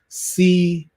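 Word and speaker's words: Seawright: w r i g HT but it is pronounced C right and this doctor is an i specialist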